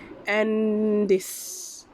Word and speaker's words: Andes: And tadi cikgu Google, dia punya pronunciation is Andes.